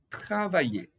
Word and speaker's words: travailler: Travailler. Tá? A pronúncia travailler, que quer dizer trabalhar.